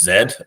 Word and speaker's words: Z: But I yeah I really prefer people to think about I mean in Canada we we pronounce Z as zed, right?